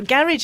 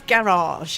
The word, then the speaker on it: garage: it no again again also garage and garage my mother always used to speak properly say it was garage and when I grew